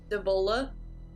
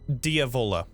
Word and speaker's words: Diavola: Before we leave, I'm going to look Katya dead in the eye and look towards, I'm going to try and say her name, Devolia? What is it? Diavola. Diavola. I'm going to look at